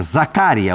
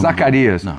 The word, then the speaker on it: Zaccaria: É Zaccaria o nome. Zacarias. O Dorival chamou de Zacarias.